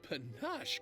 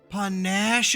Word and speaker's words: panache: Oh, you act with such pache, good sir. Pache. You were not a man of ordinary caliber. Panache is how you say that.